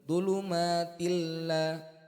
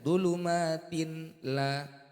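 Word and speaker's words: ظلمات لا: Dhulumatil la, bukan dibaca dhulumatin la. Dhulumatil la. Ini cara membacanya. Kemudian apabila ada kasrah tanwin bertemu dengan huruf ra, cara bacanya gimana?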